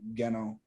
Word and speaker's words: Geno: Geno is spelt like Gino, but it's Geno.